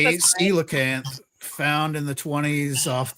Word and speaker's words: coelacanth: It's Coelacanth. pronounced Coelacanth.